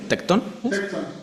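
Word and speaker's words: τέκτων: ¿Cómo se dice este? ¿Tectón? ¿Es tectón? Tecton. Tecton. La palabra que se usa, tecton.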